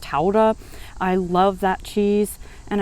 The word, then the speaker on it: Gouda: like havarti and gouda which in the netherlands is actually pronounced taurah i love that cheese